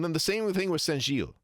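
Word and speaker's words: Saint-Gilles: So, he says Saint Gilles, but that's not how you say it in French. It's Saint Gilles. It's the e na- the e n nasal, not the o n nasal. It's the wrong nasal vowel.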